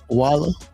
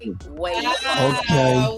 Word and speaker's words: Wayla: Are we pronouncing it right, Walla? It's Wayla Heartbreak. Wayla.